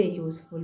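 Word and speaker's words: useful: अब यहाँ पे यू है तो क्या? वॉवेल, लेकिन इसका हिंदी प्रोनाउंसिएशन क्या आ रहा है? हिंदी प्रोनाउंसिएशन इसका आ रहा है कॉन्सोनेंट, इसलिए यहाँ पे क्या आ जाएगा? ए यूज़फुल मेटल।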